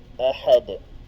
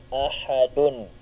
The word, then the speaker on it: ahad: So doon po nagtatapos sa dal. So ahad. Pero meron po siyang patinig. Ang kanya pong patinig ay dhammatan. Kung ating bibigkasin, Qul huwallahu ahadun. Okay? Pero siya ay nakalagay sa dulo, kaya pwede na po nating hindi bigkasin ang patinig na nakalagay sa dal.